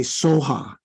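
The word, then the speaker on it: svāhā: pronouncing that no no s v a h a right in Sanskrit so the Tibetans can't manage that so uh the the closest they come is to say Soha so it is probably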